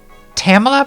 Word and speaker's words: Tamala: Tamala. Tamala rhymes with Pamela.